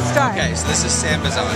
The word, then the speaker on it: Sambazon: So how do you pronounce the name of the company before we start? Okay, so this is Sambazon.